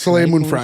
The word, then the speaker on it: Soleil Moon Frye: together who was wait soay is that how you pronounce that so Moon fry yeah she was in the